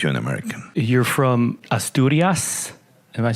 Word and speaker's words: Asturias: You're from Asturias. Am I pronouncing it right? Yeah, Asturias.